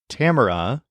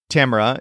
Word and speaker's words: Tamara: A repeated three times in English Tamra is pronounced with all three of those vowels sounding different from each other but in Spanish this is Tamar with all of the vowels sounding exactly the same now try out the